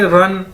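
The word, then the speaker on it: 人: और REN है हमारे पास एक चाइनीज वर्ड, इसको कैसे बोलेंगे, रन। जिस तरह हम कहते हैं दौड़ लगाना, रन।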